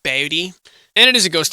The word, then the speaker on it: Bodie: Is it Bodie? They want you to say it like that. Bodie.